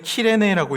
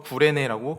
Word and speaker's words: 키레네: 원래는 키레네라고 읽는데 이것이 한글로 번역되면서 구레네라고 기록하고 있어요.